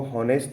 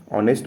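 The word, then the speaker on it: honest: ही इज ऑनेस्ट बॉय इसको ऑनेस्ट नहीं पढ़ेंगे। एच साइलेंट है। ऑनेस्ट पढ़ेंगे तो ऑनेस्ट मतलब हिंदी का वोवेल साउंड है।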